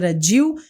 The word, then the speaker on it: Diehl: Dil e o Dil se escreve D i E HL.